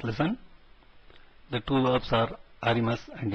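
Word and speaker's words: あります: The two verbs are arimas and imas. The U at the end is silent.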